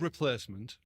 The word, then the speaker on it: REPL-acement: developed pronunciation rule yet but yeah it's called replacement but it's spelt repel dash instrument because the idea is